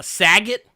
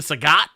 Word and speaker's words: Sagat: we say Shang Tucson we say uh Saget because because of Bob Saget but his name is actually Sagat I mean here's the